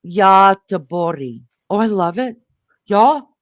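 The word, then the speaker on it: Göteborg: In Swedish, the city is named Gothberg. Is that how you say it? G O T E B O R Gen. Yeti. Say it again. Yeti. Roughly pronounced Yori.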